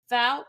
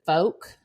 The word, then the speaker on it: Fouke: the Legends began to take shape so the fal monster and we are saying that correctly by